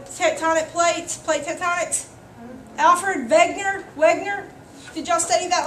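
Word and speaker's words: Wegener: v w y v even though it's a w it's pronounced with a v because he's german okay anytime you have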